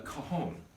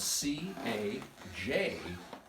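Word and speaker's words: cajón: to you and this instrument is called a cajon and it's spelled c-a-j-o-n cajon and it is essentially a box a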